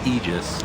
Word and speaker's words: Aegis: that's really important center the pronunciation of ages it's actually aegis right right like literally a definition you can look it up but icefrog messaged somebody at bts and said i don't want it pronounced that way so if that's i'm